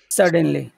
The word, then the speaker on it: suddenly: suddenly suddenly suddenly okay suddenly yeah so s that's going to be big bigger than usual because it's the accented syllable yeah suddenly yes say